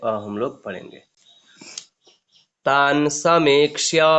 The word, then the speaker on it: समीक्ष्य: उसके बाद स म बड़ा ही की मात्रा समीक्ष्य, समीक्ष्य, ठीक है। जब बड़ाई की मात्रा होगा तब हम लोग थोड़ा सा दीर्घ उच्चारण करेंगे, ठीक है।